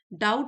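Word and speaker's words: doubt: डाउट होता है शक, बी साइलेंट है शक।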